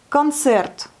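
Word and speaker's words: концерт: Concert, pareil, le Y à la fin ici, concert, se prononce plus comme un R, presque, concert. Mais le O, on le prononce presque comme un A. Concert. Concert. Il n'est pas accentué.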